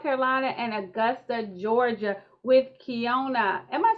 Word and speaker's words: Keyona: butcher my name so i should do better kiana yes mia we are here okay so we